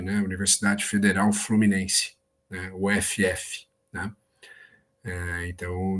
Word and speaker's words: UFF: Universidade Federal Fluminense né UFF né então nós pronunciamos uf né E então dessa forma que falamos né uf Tá mas para muitas